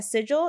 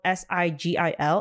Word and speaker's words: sigil: learn together so um what's essential so a Sigil is spelled s-i-g-i-l and it's pronounced sigil um not like sigil